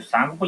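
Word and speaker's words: Tsangpo: जो सांगपो लिखा हुआ है उसमें टी साइलेंट है।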